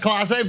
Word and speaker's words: Clase: He said Kase, not Clase, but it was so good.